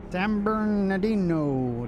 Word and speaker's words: San Bernardino: San Bernardino, that's how you say it.